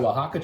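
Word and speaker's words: Oaxaca: I'm just out of wajaka cheese. It's the best cheese in the world. That is also spelled with O X by the way, the first letters in case you're trying to look that up.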